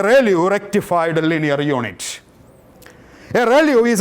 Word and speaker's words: ReLU: easy to calculate that to pronounce it is called a Rayleigh rectified linear units value